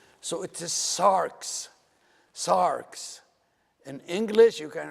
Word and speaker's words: sarx: from the Greek, and it's one syllable, not two. So it is sarx, sarx. In English, you can write it S-A-R-X, sarx. And there's a tendency for many people to pronounce it Sarex.